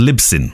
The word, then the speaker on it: Libsyn: you would notice the one I can never pronounce just called libsyn okay it's again libsyn Lipson li b sy